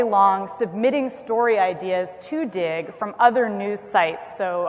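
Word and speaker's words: Digg: How many people have used Dig? A few. So Dig, which is spelled D-I-G-G, just so that it's extra cool,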